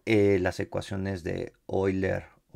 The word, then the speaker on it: Euler: y las ecuaciones de hoy leer euler no en la pronunciación es así como un alemán no no tengo muy